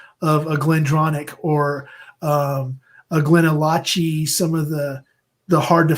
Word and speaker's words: GlenAllachie: I love Glenallachie. Yeah, it's spelled Glen. To me, it's Glenallachie, but yeah, Allachie. There you go. Glen is Allen Key, as Scott on our show calls it.